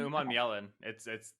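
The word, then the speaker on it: Umanmielen: Yeah, Scourton and Uman Mielin. Damn, Uman Mielin. You got it. Yeah. Okay. There's more syllables than you think.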